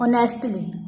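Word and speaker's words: honestly: ही इज़ not working ऑनेस्टली, ऑनेस्टली हो नहीं है, ऑनेस्टली एच जो है वो आपका साइलेंट होगा।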